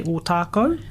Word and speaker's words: Ōtākou: for some of our names, but today we say Ōtākou, and And that's with the 2 macrons.